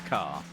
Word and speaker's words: Ka: A ka or car. Still don't know how it is meant to be pronounced. And the fiesta. Thank you again. Ditzbury. It is car.